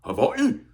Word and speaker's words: Hawaii: For some reason, a few years ago, they decided we all need to be able to pronounce that little apostrophe between the I's and call it Hawaii. Like we're islanders.